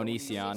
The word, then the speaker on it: Onision: How do you pronounce that? Onision.